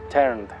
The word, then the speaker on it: turned: El pasado se pronuncia turned. Turned. Con sonido de D al final, porque termina en N. Entonces, dejamos la E muda y decimos en pasado turned.